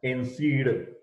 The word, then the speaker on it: NSAID: Pronunciation is NSAID.